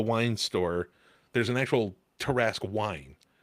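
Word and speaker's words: Tarrasque: This is the official pronunciation. Terrasque.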